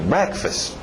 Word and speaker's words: breakfast: Olha o ritmo, breakfast. O first vai morrendo, breakfast. Lunch.